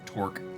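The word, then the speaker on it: torc: T-O-R-C is pronounced torque, much the same as the word torque.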